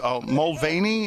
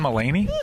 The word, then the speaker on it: Mulaney: Is it James Mulvaney? How do you pronounce his? John Mulaney?